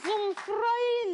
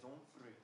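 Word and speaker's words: Humphrey: Les Onfroy, les squats. Les quoi? Les Onfré. OK. Les Onfré. Ça s'écrit H-U-M-P-H-R-E-Y. OK, d'accord.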